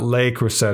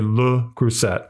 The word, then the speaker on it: Le Creuset: It's not Le CREUSET. It's apparently Le CREUSET or Le.